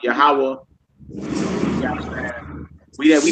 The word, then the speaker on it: Yahweh: When I read it in the Bible, I say Yahuwah, Yahuwah, Yahweh.